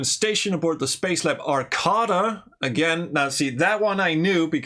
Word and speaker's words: Arcada: the spacecraft video because people kept calling it the arcata which honestly sounds cooler as does iron instead of ernon but it is pronounced arcada uh remember the days